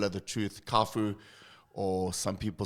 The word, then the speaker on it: Cafu: So whenever they pronounce my surname, they would say Cafu. So, and most of the people say Cafu. So I kind of like prepare Cafu because it's easier for everyone to pronounce it. So it's Cafu, okay. Yeah, for me it's Cafu.